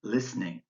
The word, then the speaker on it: listening: differs from their spelling in this scene the vowel L and should is silent so I've crossed it out and the same is true with both the e and the T in listening step 10 is your